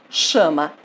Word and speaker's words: chama: Chama. Qual é a sílaba tônica da palavra chama? Chã.